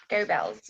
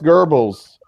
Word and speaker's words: Goebbels: yelling you are Goebbels go bells whatever that is Bell is pronounced gurbles and um who was